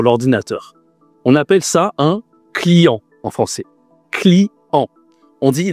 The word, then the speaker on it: client: On appelle ça un client en français. Client. On dit le client au féminin, la cliente. Attention ici à la prononciation, hein. On utilise le nez client. C'est une nasale.